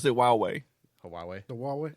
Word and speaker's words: Huawei: It's It's Huawei. Huawei. Huawei. What? Huawei. It's Chinese. H is silent.